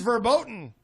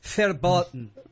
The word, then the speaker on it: verboten: It is verboten. I'm sorry. Verboten. Is that how you say it? The V is pronounced like an F.